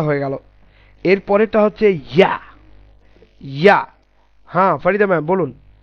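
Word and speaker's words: ياء: ইয়াটা দেখুন, ইয়া এর উচ্চারণটা আর হামজার উচ্চারণটা বাঙালিদের জন্য মিলে যায়, কিন্তু ইয়া এর উচ্চারণটা হবে হচ্ছে জিহ্বার মধ্যস্থল এবং উপরের তালু।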